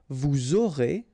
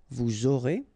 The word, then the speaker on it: vous aurez: final S not pronounced, and then you make the liaison, vous aurez, a Z at the end here, et, aurez, liaison here, vous aurez, ils auront, final T not pronounced, elles auront.